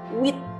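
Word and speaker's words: huit: ya Jadi duit Hai angka 8 kita lafalkan nya dengan width ya Jadi sama sekali tidak ada bunyi ha didalamnya adanya bunyi wek ya with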